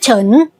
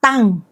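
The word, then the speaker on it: 陳: In Mandarin, it's pronounced Chen, but Teochew speakers pronounce it similarly to Tang, Hokkien speakers often pronounce it Tan, and Cantonese use Chan.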